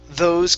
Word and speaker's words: those: calories okay so here instead of to this is those okay so the th is when you pronounce uh your you place your tongue between your teeth and it's